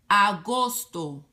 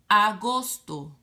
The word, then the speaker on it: Agosto: heard someone that speak Spanish name is Julio Agosto a goes to dollar all makes the awesome Agosto septiembre septiembre Octubre oak pobre noviembre noviembre Diciembre